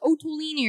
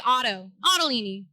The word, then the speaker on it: Ottolini: they more mispronounce it there's a lot of otolinies that like people are like otolina or otulini yeah and i'm like so close guys so close but no it's just like ottolini rolls off the tongue